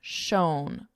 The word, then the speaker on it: shone: Now notice the pronunciation is the exact same as shone. They're exactly the same. Shone, own, shone.